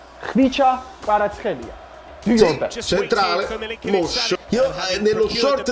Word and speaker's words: Kvaratskhelia: Kvara, not Q. Esattamente, say my name, dici il mio nome. Kvicha Kvaratskhelia. Ma quanti video al giorno stanno uscendo per questo ragazzo? Centrale? Come Zielinski? Kvicha Kvaratskhelia. C, not CH. Elia, not Ela.